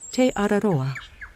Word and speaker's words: Te Araroa: sound maybe just a bit like a local Teodoro we hug and I throw olive oil on